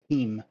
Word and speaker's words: Tim: So the Russian version of the name Tim is specifically pronounced Team.